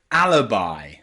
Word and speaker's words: alibi: for now remember that some words in English that end in i can have that I pronunciation so practice with me hi and and fungi and Alibi Alibi okay there's some strange